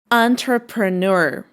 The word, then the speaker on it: entrepreneur: Okay guys, how do you pronounce this word? A very tricky one. It's entrepreneur.